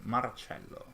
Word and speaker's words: Marcello: All with the proper Italian pronunciation, Marcello.